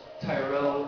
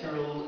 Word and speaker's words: Tyrell: the different pronunciations of Tyrell and Tyrell, and what's your personal pronunciation, and what's your motivation for that? I prefer Tyrell, just because I think it sounds cooler. I always remember in the